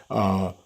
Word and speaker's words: Troyer: It's got to pronounce his name correctly. Troyer, Troyer.